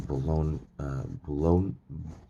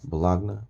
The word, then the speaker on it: Bologna: dalatore it is from bologna uh bologna blagna bologna bologna bologna i think bologna is how you say that from the museo international